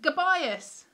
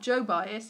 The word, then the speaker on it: Gobias: It was called Gobias. Not Joe Bias, it's Go Bias, like go buy some coffee.